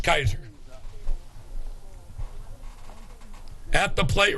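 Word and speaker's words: Kysar: And I got to know this young man who has himself an odd spelling of Kaiser. It's pronounced like Kaiser Hospital, but it's spelled K-Y-S-E-R.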